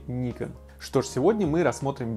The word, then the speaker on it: Nikon: смогут вас заинтересовать кстати по-японски название компании правильно произносится как nikon на западе говорят nike он ну а в россии мы привыкли к собственному варианту произношения nikon что же сегодня мы